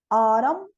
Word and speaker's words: autumn: MB, não pronuncio o B, então. Com, climb, lamb. MN, column, autumn, hymn.